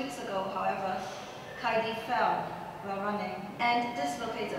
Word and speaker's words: Kaidie: Also, we know of Kaidie's clumsiness, having fallen off the treadmill and nearly off the Alps when trekking to meet her Facebook friend Heidi in Heidiland. Yes, Kaidie's name rhymes with Heidi, and yes, Heidiland does exist.